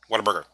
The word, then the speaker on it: Whataburger: Whataburger.